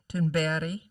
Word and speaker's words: Thunberg: I know it's a really crazy translation and pronunciation of what looked like Berg at the end of Thunberg, but Thunberg. Iraqi-born Nadia Murad, who advocates for genocide and sexual violence survivors.